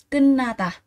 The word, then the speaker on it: 끝나다: Chúng ta có cái từ thờ đây sẽ đọc là tờ. Tờ mà kết hợp với n đằng sau thì sẽ đọc chuyển thành đọc là n này, thành niên.